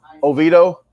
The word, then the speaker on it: Oviedo: is it a video or oh how you spell that uh how you say the word Oviedo okay thank you sorry about that Oviedo Florida